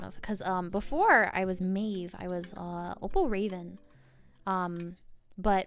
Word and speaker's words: Maeve: So I went with Maeve the Ave because Maeve is an Irish name. And it's actually used in one of my favorite films ever. And it also rhymes with Ave, and Ave is what birds are.